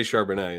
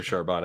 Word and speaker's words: Charbonnet: Bell cow that's right I'm saying I'm continuing to say charbonnet until until I hear sharbana I think that's right